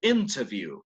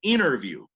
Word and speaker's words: interview: Pero los de Estados Unidos, Americans, they tend to drop the T after the letter N.